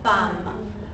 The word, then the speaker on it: femme: Prononciation? People get it wrong. It's just one of those things. Even French majors, that's why I make a big deal about it. La prononciation. Pronunciation. Femme. Ça, ce n'est pas femme. Non. Femme. D'accord?